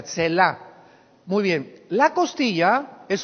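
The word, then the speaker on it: צלע: La palabra costilla es la palabra hebrea Tselá, con T de tío y S de Samuel. Tetzlá se pronuncia, Tselá.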